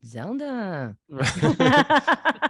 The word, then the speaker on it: Zelda: You're pronouncing it like the video game. It's actually very Ashkenazi. Zelda.